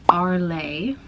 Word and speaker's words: Arles: I think last night and now we're docked in Arlay. I think that's how you say it. The S is silent.